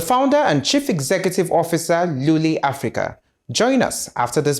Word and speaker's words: Luli: I'm surprised that you actually got the pronunciation right for Luli, because we hear several versions of it. Yeah. Some will say it's Lolly. So I said, just put the pop so you know you're selling lollipop.